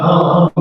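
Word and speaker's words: הם: Or really, you might just see what Mariah thought, hum meaning they masculine. Right? So that's how you say it, hum.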